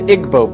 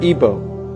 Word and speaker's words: Igbo: in Africa you have the Igbo people or ebo pronounced either way there's 40 million of